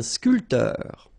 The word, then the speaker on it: sculpteur: Un sculpteur. Un sportif. Un peintre. Un photographe. Un journaliste. All right, so un barman. Un sculpteur. Same thing here. This P here is not pronounced.